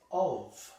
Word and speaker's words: of: So what is the only English word in which an F is pronounced like a V?